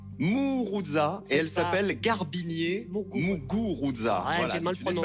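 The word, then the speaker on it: Garbiñe Muguruza: s'appelle Garbinier Muguruza. Ouais, Voilà, j'ai mal c'est une prononcé.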